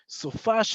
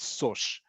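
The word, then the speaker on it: סופש: Sofash is a much easier thing to say than what it's supposed to be, which is sosh, sush. It doesn't sound good. It's only sofash. You will only hear sofash.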